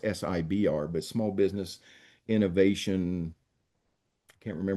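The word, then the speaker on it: SBIR: government they have programs like the SIBR, it's pronounced SIBR, but Small Business Innovation, can't remember what the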